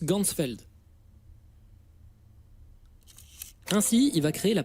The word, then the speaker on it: Ganzfeld: Et en allemand, champ entier ça se prononce Gunsfeld.